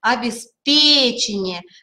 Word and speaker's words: обеспечение: Обеспечение, здесь ударение на третьем слоге будет.